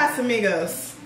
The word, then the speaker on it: Casamigos: It's Casamigos. Oh, that's how you say it? Like Casa and Migos.